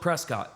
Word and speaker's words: Prescott: It's spelled Prescott. They pronounce it Prescott.